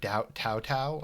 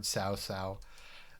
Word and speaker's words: Cao Cao: Now, Cao Cao's name, I've heard so many different pronunciations. I've heard Tao Tao, I've heard Cow Cow, and I've heard Cao Cao. This game pronounces it Cao Cao. I always thought it was Cow Cow, or something like that. Not possible. Cao Cao.